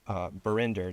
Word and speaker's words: Barinder: Barinder. Did I pronounce that right? Yeah, you did.